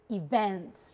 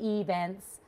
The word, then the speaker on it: event: For example, for her, I'd be looking for things like events rather than events.